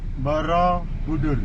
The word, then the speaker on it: Borobudur: How do I pronounce it? Borobudur. Borobudur.